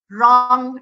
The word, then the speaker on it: wrong: itu bunyi hanya mati wrong night dress jadi gue ketemu er itu guenya tidak dibaca rong retweet belawing Boomer jadi